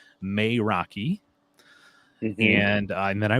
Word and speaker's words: Meraki: pronunciation I looked in the book of course it says may Rocky and uh and then